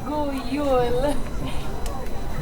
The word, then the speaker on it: God jul: God jul. That is how you say Merry Christmas in my country, so let's hear you all try it.